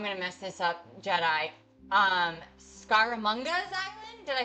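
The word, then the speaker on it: Scaramanga: Scaramunga's Island?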